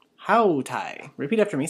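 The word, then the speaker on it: αὗται: Okay, and then here we have hautai. Hautai. Repeat after me, say hautai. And here, notice that we have the same alpha iota ending, just like we have in high.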